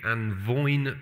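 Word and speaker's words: A' Mhòine: called Tong is the Anne vine Peninsula it doesn't look like it's pronounced vine but apparently that's how its spelt in Gaelic it is going to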